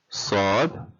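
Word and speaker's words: صاد: Sod, just like we pronounce the word saw.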